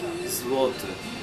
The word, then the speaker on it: Złoty: And is it called, how do you pronounce the currency here? Zloty? Złoty.